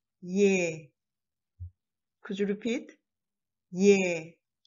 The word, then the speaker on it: ㅒ: Like a, open your mouth wide and drop jaw and say ye.